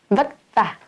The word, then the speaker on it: vất vả: Vất vả. For us, we will say vất vả.